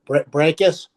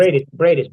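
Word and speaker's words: Briedis: with him, the former cruiserweight champion, if I pronounce his name right, Breakus, the one that Usyk beat. Breakus, yeah. Who's never been stopped. No, Bradis.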